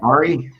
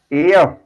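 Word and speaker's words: Ayr: Ari? Air. Air? It's pronounced air.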